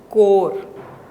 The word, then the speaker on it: corps: Corpse is CORPS, which pronounced as core.